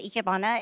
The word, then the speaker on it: Ikebana: The Ikebana is Japanese flower arrangements.